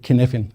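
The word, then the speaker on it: Cynefin: framework developed called kin it's spelled copin but don't say that call it kfin otherwise it's a wels word if you have never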